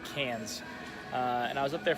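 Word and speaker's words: Cairns: up to Cannes which is it spelled like Karns but it's actually Cannes and I was up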